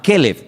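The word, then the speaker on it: כלב: Y si quieres llamar al perro, le llamas keleev para diferenciarlo.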